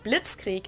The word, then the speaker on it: Blitzkrieg: We pronounce it Blitzkrieg in German, and it Blitzkrieg.